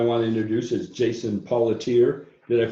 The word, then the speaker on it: Paulateer: Second person I want to introduce is Jason Paulateer. Did I pronounce that correctly, Jason?